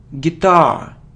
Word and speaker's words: guitar: so it isn't guitar its guitar guitar so the stress is on the second syllable guitar it isn't easel